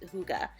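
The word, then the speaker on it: hygge: one knows how to pronounce it it's actually pronounced Huga and it's all about coziness like you know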